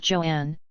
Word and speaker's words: Joanne: in her life when she wanted to be called Joanne not simply Joan she introduced herself with this pronunciation of her name and even wrote an